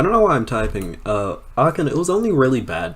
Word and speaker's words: Ahken: Twitch, Ahken, and it's pronounced Ahken, not Ahken or Ahken.